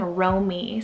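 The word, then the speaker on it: Romee: another favorite on the list is the name romy spell r-o-m-e-e now this one i've seen quite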